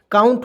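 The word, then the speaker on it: count: देखिएगा, ओ यू आए तो ओ यू को क्या पढ़ेंगे, आउ के रूप में पढ़ेंगे। देखिए यहाँ पे ओ यू है ना जी, तो सी का उच्चारण क के रूप में, उसमें आउ जोड़ देंगे तो आउ इसमें जोड़ देंगे, टी से ट हो जाएगा तो क्या हो जाएगा, काउंट होगा ना जी।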